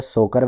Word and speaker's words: Tso: याद करने का तरीका क्या है कि ये जो TSO है इसको बोला जाता है सो। टी जो है साइलेंट होता है, और ये जो सो है ये एक लद्दाखी वर्ड है। लद्दाखी में लेक को यानी कि झीलों को कहा जाता है सो।